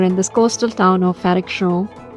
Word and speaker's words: Frederikshavn: So right now we are in this coastal town of Frederikshavn. It's funny. Earlier I pronounced it as Frederikshavn, but then I talked to some people and I got to know that it's pronounced as Frederikshavn.